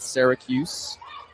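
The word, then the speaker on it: Sorgius: It'll be Kendrick Syracuse in S O R G I U S how he spells it, but pronounces it. Syracuse.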